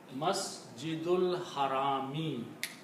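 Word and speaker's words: المسجد الحرام: So the word become Masjidul Harami. The correct word is, I'm going to read out right here, Masjidul Harami.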